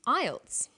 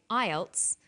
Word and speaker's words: IELTS: is called an acronym with an acronym we don't pronounce the individual letters we pronounce it as a word so we say IELTS not i e l